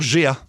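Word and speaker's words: Géa: qui Arthur G euh non c'est Arthur G comme GEA c'est ça on m'a dit comme prononcé et ben lui le match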